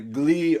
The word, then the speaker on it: gli: So the gli occhi, the gli is actually pronounced like li, and you kind of allied that to the next word.